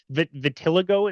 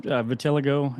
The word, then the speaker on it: vitiligo: Vitiligo, is that how do you pronounce Vi- it? so some people pronounce it vitiligo, and some people pronounce it vitiligo.